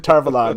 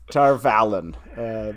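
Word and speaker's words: Tar Valon: Tarvalon. Tarvalon, not Tarvalon.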